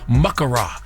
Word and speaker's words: makara: You have to stress that first syllable, makara cinnamon.